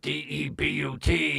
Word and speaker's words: debut: I don't know why they spell it debu t and they pronounce it debut it's debut but besides the point they're